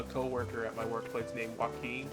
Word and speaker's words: Joaquin: I just have a co-worker at my workplace named Joaquin. And it's like spelled like that, like with the Q-U-I-N. But it's just with a W-A.